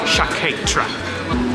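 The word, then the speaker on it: Sciacchetrà: should try it really shaketra that is the pronunciation of the wine shaketra wow look at the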